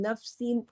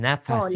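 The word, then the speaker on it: نَفَس: faqala rajulun al-kadzatu araha fil ina faqala ahriqha qal inni la arwa min nafsin wahid Min nafasin. qala Nafasin. Bukan nafsin tapi nafas.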